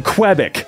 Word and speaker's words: Quebec: Quebec or Quebec Quebec can't have crap in Quebec there we go that's the right pronunciation and yeah that's unfortunate